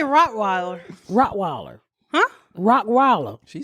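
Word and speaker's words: Rottweiler: face how do you say rockweiler rockweiler huh rockweiler she said it right that's it that's it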